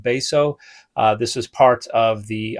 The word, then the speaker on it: Betio: Number 14, this is the island of Beso, which is spelled like Betio, but is pronounced Beso.